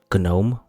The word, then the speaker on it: GNOME: you can add some useful features to gnome gnome who knows how it's pronounced like this live system monitor this clipboard